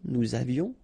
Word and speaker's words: nous avions: Nous avions, final S not pronounced, and then little liaison, nous avions.